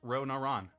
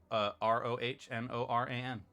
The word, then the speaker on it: Rohnoran: It's Ronoran. Rohnoran. It's a transliteration of how you pronounce my name when I was studying Japanese in Japan, and I kept that